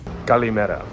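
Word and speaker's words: καλημέρα: Calimera, for those of you who are not cultured,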